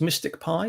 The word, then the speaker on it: MSTICPy: the package um so it's pronounced mystic pi even though it's spelt rather oddly as i said before